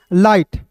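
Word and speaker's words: light: एच है तो यहां पे जी के बाद एच आता है तो जी इसमें साइलेंट होता है। तो एल का ल और आई जी एस टी है। तो इसका उच्चारण आई के रूप में करेंगे दोस्तों। हो जाएगा लाइट।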